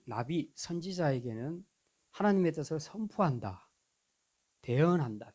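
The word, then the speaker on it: נביא: 선지자라는 것은 나비라고 얘기하는데 날아간 나비가 아니고요. 히브리어 발음입니다. 나비라고 말하는데 이거는 하나님의 뜻을 선포하는 자. 물론 전제 조건이 있습니다. 하나님께로부터 받은 계시의 말씀을 선포하는 자, 대언하는 자 하는 뜻이 있습니다. 그러니까 이 나비 선지자에게는 하나님의 뜻을 선포한다,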